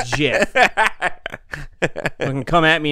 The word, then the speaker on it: GIF: I said GIF, not GIF.